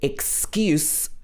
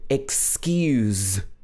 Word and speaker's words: excuse: this okay next is excuse and excuse again the difference is in the last consonant sound the first one is and the second one is where your vocal chords are vibrating excuse okay so we're going to